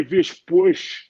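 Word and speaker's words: Villas-Boas: In Portuguese, if you go to like Portugal, like if for instance, someone like Gabriel Magalhães, You know, Andre Vish-Bush. That's how you pronounce it.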